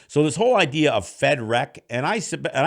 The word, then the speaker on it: Fed Wreck: this whole idea of fed rec and i sub and i do spell it f-e-d-w-r-e-c-k and i actually you know you know it's always been referred to loosely as federec as in with rec but understanding the